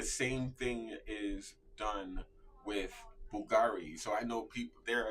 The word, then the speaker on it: Bulgari: This is pronounced Bulgari. Act like Bulgari. I love saying it like that. I'm sorry. Bulgari. It's such a cool brand name. there's a U there. Remember, it's an Italian brand, not French.